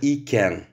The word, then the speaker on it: iken: Итак, частица «iken». Ее можно произносить раздельно, «iken» можно произносить слитно, «ken».